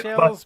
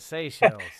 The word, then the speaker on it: Seychelles: All right, I'll let you Like pronounce it, seashells, but Seychelles.